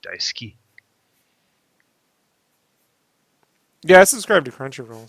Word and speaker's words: Daisuki: Daisuke site gusto well you also don't pronounce the U it's Daisuke yeah I subscribe to